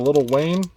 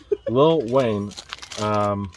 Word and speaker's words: Lil Wayne: The next item is a little Wayne. The No, Carter. not little. Lil. Lil. You have to pronounce it right, not little. Lil Wayne.